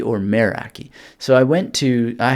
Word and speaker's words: Meraki: some Greek speakers and some of them pronounce it with this kind of may sound and some were more like a mayor sound so what am I